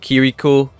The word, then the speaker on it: Kiriko: I did say it wrong the first time, but it's called Kiriko.